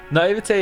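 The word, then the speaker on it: naïveté: Naivete is such a strange spelling. The sound at the end is an A. Yeah, I said it right there.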